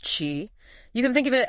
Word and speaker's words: qi: the body's vital energy yeah pronounced Chi you can think of